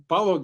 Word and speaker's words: Balogh: How do you pronounce your last name? Well, Balogh is the last name. is the first name. So Right, Balogh. Yeah, Balogh, right?